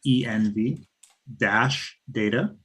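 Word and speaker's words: env-data: env for environment, env dash data.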